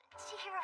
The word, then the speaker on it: Chihiro: Chihiro. It's written Senjin as in bottomless abyss, but it's pronounced Chihiro. In that case, my name is Renji Aso.